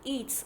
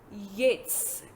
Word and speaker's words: Yeats: Yeats, it's not Eats. I know a lot of students will pronounce it as Eats. It's not Eats, it's W.B. Yeats.